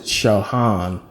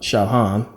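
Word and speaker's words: Sahagún: by Bernardo D San they uh pronounce it shaan you know kind of like lasagna you got that g that makes a different sound but shaan a uh Franciscan monk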